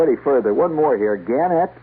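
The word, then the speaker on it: Gannett: Ganet or Garnet. They prefer to pronounce it Ganette.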